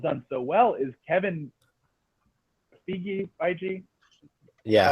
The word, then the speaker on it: Feige: And so what Marvel's done so well is Kevin Feige?